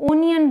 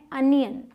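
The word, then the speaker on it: onion: इसे बहुत सारे लोग ओनियन बोलते हैं, इसको ओ प्रोनाउंस करते हैं, लेकिन इसकी सही प्रोनाउंसिएशन है अनियन। अनियन, ठीक है।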